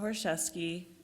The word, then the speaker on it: Choraszewski: Choraszewski, and, the C is silent.